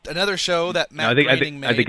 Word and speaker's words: Groening: It is Groening, right? It is Groening. It is not spelled like graining at all, but graining rhymes. It rhymes with raining.